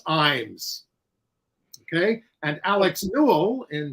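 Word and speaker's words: Ijames: viewer Andrew of California the correct pronunciation of the playwright of fat ham is James eins okay and Alex Newell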